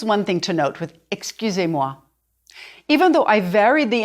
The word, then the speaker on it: excusez-moi: Your job now is to say E and then round your lips as though you were saying the oo of goose.